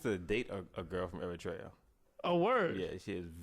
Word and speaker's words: Eritrea: Shout out to Sim Joy from West Eritrea.